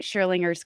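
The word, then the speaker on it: Schrödinger: And I finally learned how to say it right, Schrodinger's cat.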